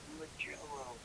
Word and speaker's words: Mugello: So here we are at our next event, Mugello Autodromo Internacional. It's pronounced Magello.